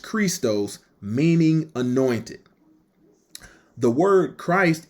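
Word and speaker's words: Χριστός: When we look at the word Christ in that verse, it's G5547, pronounced Christos, meaning anointed.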